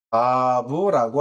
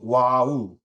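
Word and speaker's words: ו: 영어에서는 V 또는 W라고 발음이 되기도 합니다만 어쨌든 비읍, 바브 또는 일부는 이제 와우 이응이죠. 와우, W의 음가를 갖기도, 그렇게 읽기도 합니다.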